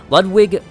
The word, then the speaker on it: Ludwig: Ludwig, I think that you actually pronounce that with a V, was the first of many Healing Church hunters to come, many of whom were clerics.